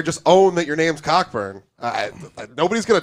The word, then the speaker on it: Cockburn: cockburn I don't care okay is silent I went to school bro c-o-c-k-b-u-r and his Cocker burn all you want but your name is cockburn you're still an amazing